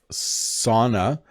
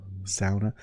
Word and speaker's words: sauna: Sauna. I think you're supposed to say sauna, sauna. I say sauna, that is the bad North American pronunciation of this.